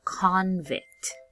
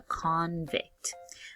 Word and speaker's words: convict: When it's a noun, we put emphasis on this first part. So, we say it a little bit stronger. So, when it's a noun, it is a convict.